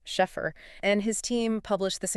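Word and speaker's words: Scheffer: Yes, Schffer, that's pronounced Sheffer.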